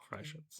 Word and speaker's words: Freischütz: It's Freischütz with an umlaut TZ. Oh, Freischütz.